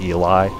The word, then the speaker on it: Eli: Eli tornado so so some people say Ellie but I'm I'm pretty sure it's supposed to be spelled or it's supposed to be pronounced Eli I I think so